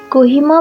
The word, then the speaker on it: Kohima: कोहिमा अंग्रेजी द्वारा दिए गए एक अंग्रेजी नाम है जो मूल्य नाम क्यूहिमा या क्यूहीरा का उच्चारण नहीं कर सकते थे, जो क्यूही फूलों से